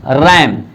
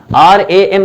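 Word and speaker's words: RAM: रैंडम access memory तो ये हम आर ए एम नहीं बोलते हैं बल्कि इसको रैम बोलते हैं एज अ वड प्रोनाउंस किया जाता है थर्ड देखिए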